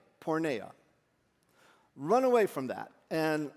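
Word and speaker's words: porneia: The Greek word in the Bible here is spelled, it's translated sexual sin. P O R N E I A. Porna.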